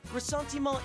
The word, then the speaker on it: Ressentiment: Ressentiment is French.